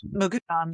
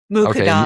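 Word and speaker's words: Muqaddam: Hamid Ali and Fasil I I don't can't pronounce his last name who I think Mukadam. Yeah. What is it? Mukadam.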